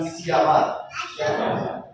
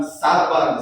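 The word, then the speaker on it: שבר: Sama-sama bilang siabar. Siabar, bukan sabar, saudara, tapi siabar. Jadi cara bacanya siabar.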